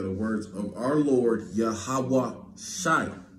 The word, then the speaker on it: Yahawashi: so they are the words of Our Lord yahawah Shi right that's how you say that's that's how you pronounce the the uh the name of the